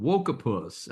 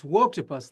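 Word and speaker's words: Woketopus: Uh the new book is called Wapus. I hope I'm pronouncing that the way you intended. So tell us about the new book and why people should read it. Yeah, it's Wtopus like woke octopus.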